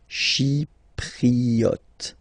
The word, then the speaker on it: chypriote: Remember this Y is pronounced like I. Okay. Chypriote.